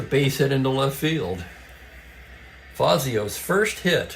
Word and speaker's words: Fazio: I can tell you if it was correctly pronounced the Italian way, it would be Fazio, but they didn't always do that in Major League Baseball in the 60s.